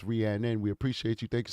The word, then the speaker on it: Rhiannon: Rhiannon, she says my name is Rhiannon. You know it's spelled Rhiannon. Rhiannon. This is America. We do speak English. It's spelled Rhiannon, but we will call her Rhiannon because that's what she wants.